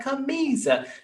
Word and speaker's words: camisa: was like, come on, which one is the stressed syllable? Camisa. And she was like, ka? No, it's like camisa, you know, so it's very